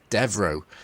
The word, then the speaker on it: Devereaux: got it right um not devil of course devro so uh what did